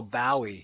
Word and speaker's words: Bowie: much a beatle oh bowie he would say contemptuously to rhyme with bow wow idol wrote the monty